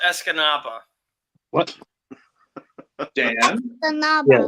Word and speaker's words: Escanaba: Escanaba. Yeah. Pronounce Escanaba. Pronounce what? Escanabo? Escanave.